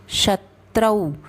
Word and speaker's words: शत्रौ: समश शत्रौ, त्रौ औ है ओ नहीं, शत्रौ, च मित्रे, च मित्रे में आघात, तो शमशत्रौ च मित्रे च तथा मानापमानयोः।